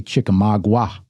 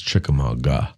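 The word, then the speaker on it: Chickamauga: I always want to say Chikamagua. It's Chikamaga.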